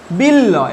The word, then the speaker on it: বিল্ল: উদাহরণটা দেখো, বিল্ল, আমি কি বলেছি, শব্দের মধ্যে যে বর্ণের সঙ্গে যুক্ত থাকবে সেই বর্ণটা দুবার উচ্চারিত হবে। যেমন বিল্ল, এখানে দেখো কিরকম উচ্চারণ হচ্ছে, বিল ল, ভালো করে উচ্চারণ করো।